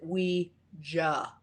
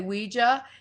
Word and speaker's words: Ouija: out with the planchette, they actually put the phonetic spelling on a box of the planchette that said, pronounce it Ouija. So I kind of Really? go old school and say Ouija.